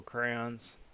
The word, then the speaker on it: crayons: Is it crayons or crayons? Because I think it's supposed to be crayons with where you enunciate the Y, but I think most people just have it drop off, like, and then say it like it's CRANS, crayons.